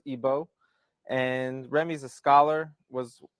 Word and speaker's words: Igbo: comes from Nigeria from the Igbo tribe otherwise pronounced ebo and Remy's a scholar